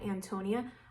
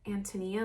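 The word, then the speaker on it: Ántonia: and that is My Antonia. I know some people pronounce it Antonia, but I prefer Antonia.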